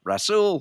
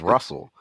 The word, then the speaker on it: Rasul: And it's also special because the number one mispronounced way that people mispronounce my name is Russell. So now we have Russell and Rasul. There you go. So there's no way that they can get the two confused. That's so right.